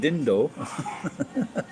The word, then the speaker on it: didn't: the north of England, didn't. You didn't do it, so we don't pronounce that second D. Do some Americans do the same thing? We say it didn't, or if it didn't do it, dindo.